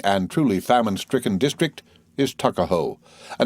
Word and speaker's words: Tuckahoe: not belong to him eastern shore men usually pronounce the word took as tuck tuckahoe therefore is in maryland parlance takaho but whatever may have